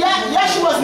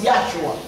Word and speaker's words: Yahshua: It is spelled, Yahshua's name is spelled Yod-A-Y-Shinayim. In the Hebrew, it is pronounced Yahshua.